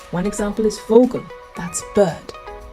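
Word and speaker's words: Vogel: let's say it u v is pronounced f one example is fogal that's bird fogal means bird in English say it fogal w is pronounced V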